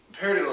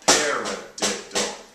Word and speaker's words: paradiddle: Also, paradiddle has four syllables, paradiddle has four notes, so you can say paradiddle, paradiddle.